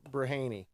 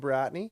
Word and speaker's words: Bratney: Campbellford Elijah bratney Bry some people were pronouncing in another way and I didn't want to mess this one up braney yeah I've heard that to be honest with you we always called them bratney that's quite a difference